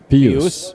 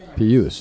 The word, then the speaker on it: Pijus: Pijus. Pijus.